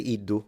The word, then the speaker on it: iddu: you, iddu, lui, Once again, I would say iddu, so I wouldn't do the j pronunciation of the d, but some people do. So it's not incorrect.